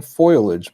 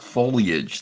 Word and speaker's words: foliage: it's appealing there's beauty maybe even foilage by the time I'm done yeah yeah you get oh it's pronounced foliage though you guys that